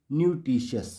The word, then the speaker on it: nutritious: तो रूल है टी के बाद अगर IA, IE, IO दिखे तो टी का उच्चारण शॉ होता है। उदाहरण से समझते हैं। PARTIAL partial, MARTIAL martial, PATIENT patient, SENTIENT सेशेंट, CAUTIOUS कॉशस, NUTRITIOUS न्यूट्रिशियस।